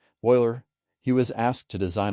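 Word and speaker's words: Euler: the famous Swiss mathematician Leonard Oiler pronounced Oiler he was asked to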